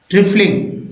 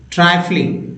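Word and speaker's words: trifling: अगला word meaning है ट्रिफलिंग, sorry ट्राइफलिंग। अब भाई आई है तो भाई जाहिर सी बात है हमेशा ई ही उच्चारण करेंगे क्या है, चाहे छोटी बोले बड़े, आई क्यों नहीं उच्चारण कर रहे हैं। फ्लाइंग भी तो नहीं पढ़ सकते, ट्रिफलिंग नॉट ट्राइफलिंग, ट्राइफलिंग होगा सही उच्चारण।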